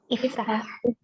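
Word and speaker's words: افتح: Kalau ini? Iftah. Ini adalah ainul fi'li. Ya, ainul fi'linya di sini huruf ra dan di sini huruf ta. Ini ru, u, di sini ta, makanya iftah.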